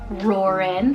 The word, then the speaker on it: Roren: It just has that like power, but it's like Roren, like with the Ren ending, just makes it soft and sweet.